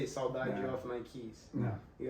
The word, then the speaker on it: Saudade: Saudade? Saudade, yeah. Yeah, I didn't know how to pronounce it.